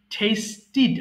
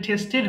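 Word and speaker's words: tasted: Test, টেস্টিড। আচ্ছা, এটা টেস্টেড হয়ে গেছে, উচ্চারণ হবে টেস্টিড। লাস্টে যদি টি ডি পায় তাহলে অবশ্যই আমরা সেটাকে ঠির উচ্চারণ করব। হ্যাঁ, ঠেড নয়।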